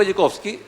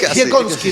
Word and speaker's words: Dziekonski: Y para eso tenemos un invitado súper interesante hoy, Diego Jekowski. Dime si pronuncio bien después tu apellido, ¿no? Está bien, perfecto. Casi. Jekowski, pero es de origen polaco, ¿no?